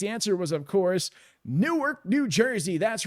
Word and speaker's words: Newark: It's not Newark, but you know, that's how you shout out to all my Jersey people. Where you at? Yeah, Ange 1977 knows exactly what I'm talking about. That's a one-syllable word.